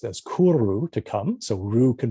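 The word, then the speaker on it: 来る: When this form was borrowed into Japanese, is pronounced as kuru, to come.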